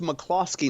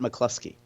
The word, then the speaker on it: McCloskey: Yesterday and also it's McCloskey, not McCluskey.